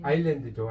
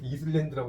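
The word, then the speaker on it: Ireland: 아일랜드죠, 아일랜드. 네. 뭐 이걸 뭐 어떤 분은 이걸 이슬랜드라고 읽으면 안 돼요.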